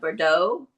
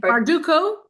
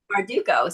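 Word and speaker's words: Bardugo: So this was my pick which was Six of Crows by Leah Berdau. How do you say it? Barduko. Barduko.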